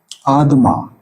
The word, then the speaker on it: Adama: Adam is not a word. This is wrong pronunciation. Adam. Adama.